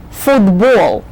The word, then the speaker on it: football: Just when you say the names of all the ball games, remember the accent is on the ball syllable. Basketball, volleyball, football, baseball.